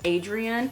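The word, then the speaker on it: Adrienne: These are both by Adrena Young, or some people, I think Haley Pham said Adrian. I say Adrena because I know of somebody who spells their name like this and pronounces it Adrena. So I'm gonna continue, sorry if I'm saying it wrong, but I'm gonna continue saying Adrena just because that's what I'm used to.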